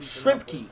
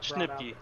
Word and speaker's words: Schnipke: That was the big And after seeing the thing in chat, your last name is pronounced Shrimpke, correct? Finding out what Schnipke, yep. Schnipke, okay.